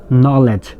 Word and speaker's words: knowledge: এখানে কে উচ্চারণটা হয়নি, হয়েছে নো। নলেজ, ক উচ্চারণটা যেহেতু হয় না সেই জন্য নলেজ, একনলেজ, নলেজ।